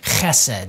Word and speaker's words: chesed: in the story as this Hebrew word, chesed. And if you say it right, you're probably gonna spit on somebody near you. And chesed means kindness, faithfulness, steadfast love, and actually a lot more words than that.